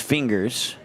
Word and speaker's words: Fingers: I was told that it's pronounced Fingers, so we're going to go with that until I'm told otherwise.